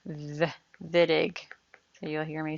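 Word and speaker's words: Wittig: reaction and C is W but it's actually pronounced the vidig so you'll hear me say vidig with a v vidic this is actually a Nobel Prize winner you'll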